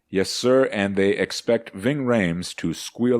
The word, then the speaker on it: Ving Rhames: owners are doing to Ving Rhames it rhymes with vaping but it's a lot